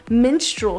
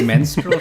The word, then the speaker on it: minstrel: with what they call minstrel shows? And I could wait, not what? stop laughing at that term. Did you say menstrual shows? It's called minstrel.